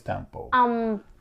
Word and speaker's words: tampo: So I wanted to know, the subject we have is this word that I'm still trying to learn how to pronounce. Is I think it's Tampo.